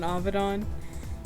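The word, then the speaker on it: Avidan: don avedon sound like did you just call him don avedon look his last name is pronounced that way so don evan mcdann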